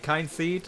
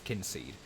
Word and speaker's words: Kynseed: the game um because obviously what it means is like kin like family and it's the family it's kin seed but they've they've spelled it with a Y just click gives it